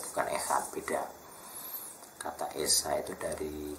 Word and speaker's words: Echad: Echad tuh, kalau di Indonesia ini lebih jelas dengan kata KH, maka di ET juga pakai KH, Echad ya, bukan C ya. C itu Inggris, bacanya sama, K, Echad, bukan Echad tapi Echad.